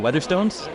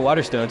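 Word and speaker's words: Waterstones: you're working at I'm going to get the name wrong weather Stones water stes the P yeah yes it's easy to mix them up if you're an ignorant dur America um but what you're working at water stones and you just did this thing on spec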